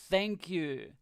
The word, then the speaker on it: thank you: When you say the thank you, the TH part, it's with your tongue between your teeth. Th. Just a little bit. Th. Thank you. Okay, not tank.